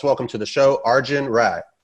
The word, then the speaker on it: Rai: it for our viewers well the first name is right yeah the last one is right yeah argent right got